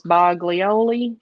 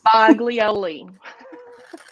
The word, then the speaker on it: Boglioli: and found out that it's supposed to be pronounced the g is silent oh versus buglioli boglioli exactly but by this